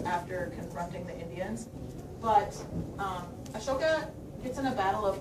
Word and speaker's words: Ashoka: So, Ashoka, which is also spelled A-S-O-K-A, but I picked this one because it makes you pronounce it right.